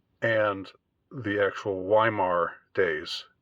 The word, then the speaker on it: Weimar: of Weimaria, what's called Weimaria, and the actual Weimar days, or Weimar, if you want to pronounce it in the Germanic way. I'm just gonna pronounce the W part.